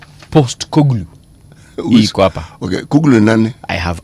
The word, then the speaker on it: Postecoglou: It is post like poster, and then ECOGLOU. Post Koglu.